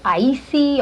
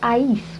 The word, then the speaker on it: I-eece: have trouble pronouncing it they're like icy or or you know something weird but i like it because it's something somebody will always remember because they go what's that girl's name she's got that really really weird difficult name to pronounce and it's ice for those who don't know how to pronounce it where were you